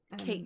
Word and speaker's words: Cait: I've always said Kate Sith. Kate Sith. It could be Cat Sith. It's CAIT. So yeah, it is the name of the cat. Kate.